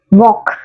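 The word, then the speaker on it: walk: ആണ് ഡബ്ലുഎ എൽ കെ ഇതെങ്ങനെയാ വായിക്കുക വോക്ക് വോക്ക് എൻ സൈലന്റ്ആ വോക്ക് ഡബ്ലു എം ഇഎന്താ സ്ത്രീകൾ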